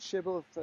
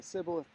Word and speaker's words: Shibboleth: This word shibboleth, sibboleth, depends upon which side of the Jordan you were on, whether you pronounce the first consonant as an SH, as we'd say it in English, or as an S.